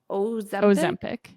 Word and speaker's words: Ozempic: Ozempic.